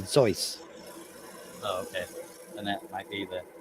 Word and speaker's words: Seuss: actually i read somewhere that suits it's not how not even how you say his last name but i don't remember it if you're actually pronouncing it the way it should be pronounced it's german it would be zoice and that might be